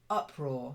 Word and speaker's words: uproar: stress is slightly different uproar so the stress is on the up and it's then raw